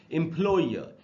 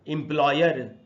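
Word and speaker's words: employer: हिंदी में इनफ्लो हर इसको एंपलॉयर नहीं बोलना चाहिए जैसा की हम लोग बोल लेते हैं एंपलॉयर नहीं होगा इनफ्लो हर एंपलॉयर लास्ट वाला और साइलेंट होगा ब्रिटिश इंग्लिश के हिसाब से रूल से इनफ्लो हर इस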